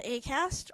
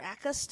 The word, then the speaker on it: Acast: switch to a to acast or AUST as my computer pronounces it um aast aast